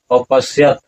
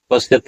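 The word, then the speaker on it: अपश्यत्: तत्र और जो ये आकार है उसका अ बन जाता है और तब होता है अपश्यत पश्चत नहीं होगा अपश्यत और ये लंग लकार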